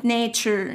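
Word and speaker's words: nature: في النطق تمام تمام التي يو ار اي من دائما في الكلمه تديك شر شر يبقى زي كلمه ناتشر ناتشر تمام هنا بقى تقول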